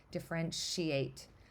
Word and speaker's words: differentiate: what happens at T when I say differentiate I don't hear the T it kind of the way my mouth moves it sort of accidentally makes it sound like sh so um that's just